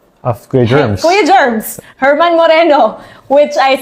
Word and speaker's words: German Moreno: were we were laughing about it because I mispronounce the name of of Kuya Germs Kuya Germs Herman Moreno Which I said na sa sobrang kabako e ang nasabi ko German Moreno German Moreno siguro yun yung isa sa mga